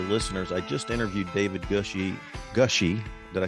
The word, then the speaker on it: Gushee: For those of you who are regular listeners, I just interviewed David Gushee.